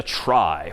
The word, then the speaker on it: trie: most part and that's known as a try which is somehow short for retrieval even though that's pronounced somewhat differently but try just means